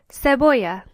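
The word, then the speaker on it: cebolla: Onion is seoya. Notice that in this word there are two L's. If you remember back to our alphabet lesson, this is pronounced aay. So the word is pronounced seoa.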